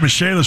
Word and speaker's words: Michelis: Dan Dakich here for the Michelis Corporation. Spelled like Michael is, but pronounced Michelis. Waterproofing, Michelis.